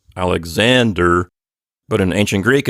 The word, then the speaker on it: Alexander: you know we say Alexander with the accent on the next to last syllable Alexander but in ancient Greek